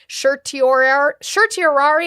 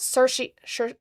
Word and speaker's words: certiorari: This court granted, I never say it right, certiorari, I know it's like an SH sound, but before judgment.